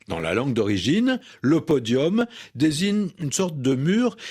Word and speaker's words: podium: avec un nu qu'on prononce comme un eau podium, prononciation ancienne de cette langue latine qu'on va retrouver dans d'autres mots podium, forum, décorum, sérum et cetera.